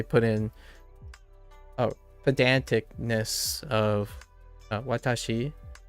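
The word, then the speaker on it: 私: in a pedantic of Watashi right Watashi as opposed to Watashi watashii watashii Watashi right and then it's not watashii Watashi going high low Watashi Watashi Watashi Watashi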